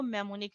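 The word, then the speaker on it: mnemonic: इन इस मेमोनिक में एन जो है वो साइलेंट है, तो हम इसको मेमोनिक रीड करते हैं।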